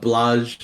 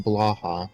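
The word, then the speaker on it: Blåhaj: which actually becomes the Blage like plushy thing, and Well, it's really first of cool. all, it's pronounced Blaha, alright?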